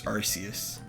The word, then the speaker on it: Arceus: No, I think its official pronunciation is Arceus. Really? Oh. Yeah, in one of their 3D ones for the 3DS, their official pronunciation of it is Arceus.